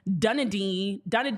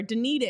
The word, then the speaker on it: Dunedin: also see the meetings that were happening in Dunedin, excuse me. I'm never gonna say that correct. I'm trying. I feel like it's important for me to add that nugget in there. Dunedin.